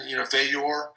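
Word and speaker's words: Veilleux: Christian, Vayor, that's how you pronounce his last name officially, and he's done great as well.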